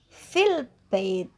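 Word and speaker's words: في البيت: Fi itu kan panjang ya. Kalau dibaca tajwidnya fi panjang. Fi al-bait. Cara bacanya gimana? Dipendekkan, jadinya fil bait.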